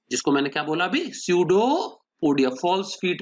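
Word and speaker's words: pseudopodia: से, जिनको कहते हैं स्यूडोपोडिया। पी साइलेंट है बच्चों, स्यूडो मतलब फॉल्स और पोडस, पोडिया मतलब लेग्स, फॉल्स लेग्स की मदद से।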